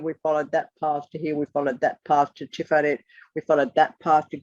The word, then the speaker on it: Tiferet: So Tiferet, T-I-P-H-A-R-E-T-H, bearing in mind that there are no vowels. But the original letter that looks like a T is not tet, T-E-T-H. It is tov, T-A-U.